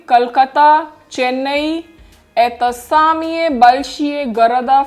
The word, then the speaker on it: города: Город, the stress is on the first O. But in plural, города. Stress is shifting to the last vowel A.